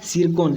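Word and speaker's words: Tsirkon: सिरकॉन। यहाँ पर T silent है।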